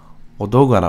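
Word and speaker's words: Odogaron: everyone really pay attention you pronounce the O's with the O sound not the ah sound which is a very common abbreviation we do in American English is to put an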